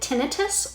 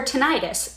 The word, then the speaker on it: tinnitus: whether you pronounce it tinnitus or tinnitus this auditory hallucination can